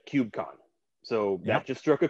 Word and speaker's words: KubeCon: they pronounce things so if you want to blend in then right if you don't want everyone to know that you're a noob then just call it kubecon go listen and learn